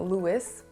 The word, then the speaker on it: Louis: that much the first name louis is well pronounced i don't really hear people saying louis which is correct his name is louis especially